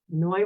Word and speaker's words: Noi: As always, Noi rhymes with joy, and I hope that I brought a little more of that into your day.